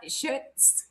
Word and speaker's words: Schutz: Michael, with Kelly um Shut Schutz Shutz if I'm pronouncing that correctly because everybody wants to add the L and there's no L and u we were